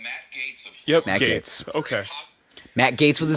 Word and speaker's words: Gaetz: Department of Justice is investigating the Republican Congressman Matt Gaetz of Yep, Matt Gates.